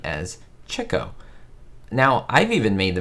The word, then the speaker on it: Chico: lot of them so just like you would say chicks it was meant to say chick oh so there we